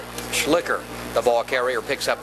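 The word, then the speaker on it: Schlicher: that's really what's possible I believe the pronunciation is slicker s-c-h-l-i-c-h-e-r-jed schlicker the all carrier picks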